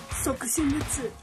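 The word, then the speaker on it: 即身仏: It's pronounced Soku Shunbutsu.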